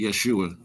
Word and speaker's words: Yeshua: So, we pronounce it Yeshua.